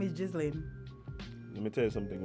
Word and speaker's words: Ghislaine: We all keep mispronouncing this woman's name. Watch. Her name is Ghislaine.